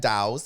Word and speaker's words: Daus: they do yeah but isn't your name is pronounced the literally the way it's spelled that's that's what I say all the time it's literally this the way it's pronounced cuz like d a